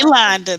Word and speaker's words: Kilanda: Is it Kilanda, or am I pronouncing it correctly? Kilanda, that's correct.